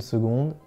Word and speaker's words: seconde: En une seconde. Seconde, it's pronounced like a G sound.